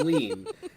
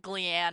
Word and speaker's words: Gleann: For for you the rest of us it's going to be glean. Everyone else including the audiobooks all of them is very consistent on this one. I think I pronounced in my head Gleanne actually cuz there's two ends.